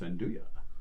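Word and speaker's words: 'nduja: i've heard andouille no it's undo ya and do ya oh let me tell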